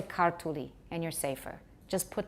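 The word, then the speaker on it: ქართული: So what you're supposed to do is stress the first syllable a little bit, and then forget about stress. So if the word is, for example, we would like to say kartuli.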